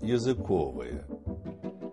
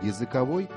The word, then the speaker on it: языковой: В зависимости от значения слова меняется и ударение. Языковые колбасы, но языковые явления, языковой процесс, языковое окружение, языковая среда.